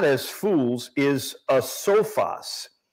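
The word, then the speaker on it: ἄσοφος: But the Greek word here, not as fools, is a sophos. It's spelled A-S-O-P-H-O-S.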